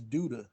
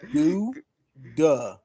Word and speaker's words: Duda: It's Duda. Say it with me. Do duh. Because it's like zippity doodah, zippity a.